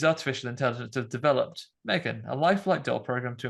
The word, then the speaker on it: M3GAN: important that you have to pronounce it like M3GAN for my name games to work M3GAN.